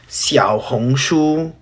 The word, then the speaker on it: 小红书: So if you want to find out what happened, I'm Chinese, and for the last time, it's pronounced 小红书.